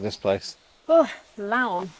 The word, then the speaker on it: Laon: Oh, Laon. Laon. It's like the word loan, but the A and the O are backwards. It's like the word Leon, but with an A instead of an E.